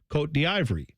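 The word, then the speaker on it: Côte d'Ivoire: It says what it is said in that country, which is quote de Ivory. That's how it's said.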